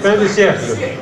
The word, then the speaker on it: Fin de Siècle: This is called Fin de Siècle. Is that right, the pronunciation? Fin de Siècle.